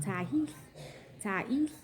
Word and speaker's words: Tiahease: when another resident of the motel asked Tiahease, pronounced Tiahease, to go to a local market to give them a pack of chicken wings.